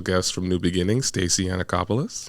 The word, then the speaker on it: Yannacopoulos: have a special guest from New Beginning Stacey anacopoulos how are you I'm good I said that